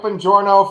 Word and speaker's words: Bongiorno: with uh Mike uh how do you say his last name open door now it's like hello my journal yeah yeah Mike Bongiorno from pop culture man